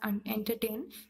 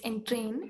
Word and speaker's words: entrain: Sorry if I pronounce it as entertain. It's entrain. It means to climb.